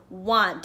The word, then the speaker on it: want: w a and T it is want it's kind of a tricky word cuz we don't say it quite like we spell it that a has sort of a funny sound in there so I want this